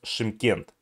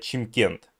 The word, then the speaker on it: Шымкент: прожил в казахстане и он правильно произнес он произнес шымкент а насколько я знаю его обычно русскоговорящие ли этнические и этнические русские произносят чимкент или у меня есть